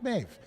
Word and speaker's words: Maeve: I used to watch the series The Boys, so I knew it was Maeve. A lot of people are telling, how do you say that? It's Irish Maeve.